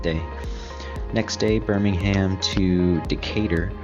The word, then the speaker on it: Decatur: next day Birmingham to Decatur as its pronounced I wanted to call it a cat or I don't know anybody